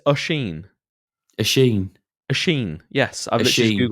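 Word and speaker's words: Oisín: So it's just Oisin. Mate, it's Ushin. It's Ushin. Oshin. Ushin. Yes, I've literally just Googled it. It's pronounced USH, little dashy thing, hyphen, EEN. Ushin.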